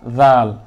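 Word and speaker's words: ذال: উচ্চারণটা ভুল হচ্ছে আর জাল উচ্চারণ করতে যেয়ে যদি আপনার যার উচ্চারণ হয় বা শক্ত হয় তাহলে মনে করতে হবে আপনার উচ্চারণটা ভুল হচ্ছে এটা একদম নরম জাল জাল জবর জা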